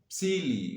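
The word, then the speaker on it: Psylli: there were the the the silly which is spelled p s y double l i now this tribe he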